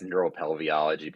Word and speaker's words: neuropelveology: So no, it's neuropelveology. But okay, pelviology. Okay, it's a European title, so they got to add some extra vowels in there.